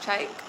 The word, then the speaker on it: Tyke: My name is Tyke. It's pronounced Tyke.